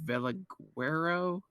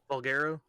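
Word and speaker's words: Valguero: We put it on Veliguero. Josh, how do you say it again? Vulgaro. Vulgaro, thank you.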